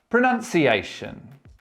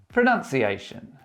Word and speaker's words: pronunciation: louder then we get to the second half of the word which is asian asian and that has the primary stress so that's stronger than the secondary stress so let's put it